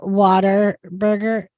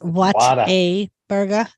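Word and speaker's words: Whataburger: do you know that it's not called Water Burger it's what a burger yeah I know and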